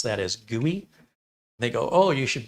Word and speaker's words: GUI: pretty user interface graphical user interface GUI we pronounce that as GUI they go oh you should buy our chairwear